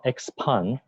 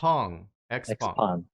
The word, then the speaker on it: Xpeng: Well, it's called Xpeng in English. Xpeng. Okay, and in Chinese, it's called Xiaopeng, but it's a little too difficult for foreigners to pronounce. So Xpeng is the...